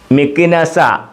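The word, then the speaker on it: مكنسة: Bashkir towel Bashkir towel മിക്നസ മിക്നാസ ചൂൽ മിക്നസ തഴ എഴുതേക്കുന്നുണ്ടെങ്കിലും താ ഉച്ചാരണം കൊടുക്കത്തില്ല മിക്നസത്ത് എന്നാണ് എഴുതിയേക്കുന്നത് മിക്നസത്തു എന്നാണ് ഫുൾ സ്റ്റോപ്പ് ആയതകൊണ്ട് മിക്നസത്ത് എന്ന് കൊടുത്തത് മിക്നസ താന് ഉച്ചാരണം കൊടുക്കത്തില്ല മിക്നസ ചൂൽ മിക്നസ ചൂൽ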